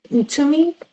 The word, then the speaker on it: Ntumy: If you are just joining us, we are discussing They Made Us Blood and Fury with Cheryl Ntumy. Am I pronouncing that right?